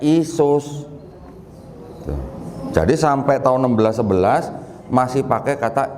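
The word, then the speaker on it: Ἰησοῦς: Orang Yunani membacanya sebagai Iesous.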